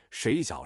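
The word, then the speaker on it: 水饺: 睡觉是 4 声，水饺是 3 声。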